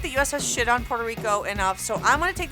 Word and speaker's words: Puerto Rico: Puerto Rico. Puerto Ricans don't say it like that. Just say Puerto Rico.